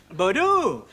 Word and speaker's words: Bordeaux: thing about bordeaux it's written bordux but it's pronounced bordeaux strange but true explain that michael ashbury the